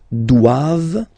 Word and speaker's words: doivent: Alright, and then the last one, ils doivent, so same thing, classic ending for the plural form, ENT here, okay, but then you don't pronounce it.